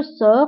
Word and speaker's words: sors: بالنسبه جو سور فلا تيرمينيزون هي اس، فهنا غتلاحظوا اننا كتبنا في اخر الكلمه اس ولكن ما نطقناهاش، قلنا جو سور.